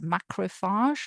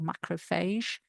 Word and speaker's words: macrophage: So this is a macrofage or macrofase some people pronounce them as um so the macroofagages are found in connective tissue blood.